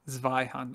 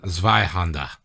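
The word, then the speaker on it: Zweihänder: Since this is an audio production, it should be pronounced something like Zweihander. Zweihander.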